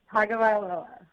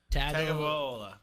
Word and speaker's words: Tagovailoa: It's Tua Tagovailoa. Tagovailoa.